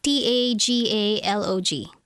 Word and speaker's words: Tagalog: said you speak what language is it Tagalog t a g a l o g Tagalog that's tal tagal okay so should you